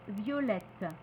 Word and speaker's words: violette: le T au masculin on va prononcer le T au féminin le double t au féminin et on va prononcer violet violette dans ce cas la